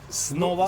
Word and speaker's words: Снова: How do you pronounce? Snova.